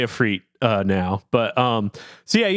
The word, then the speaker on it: Ifrit: Yeah, that's how they say Ifrit now.